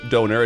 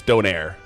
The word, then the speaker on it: donair: It's the menu item is it's it's also not even donor. It's spelled like this. In Canada, it's it's donaire.